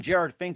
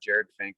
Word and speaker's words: Jerad Finck: that's very important as well too once again jared fink of blazar here on the mike wagner show